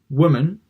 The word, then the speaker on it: woman: posting now we've got the last one which is pretty similar not exactly the same woman and wolf so it's the short o sound not the long o sound if you watch my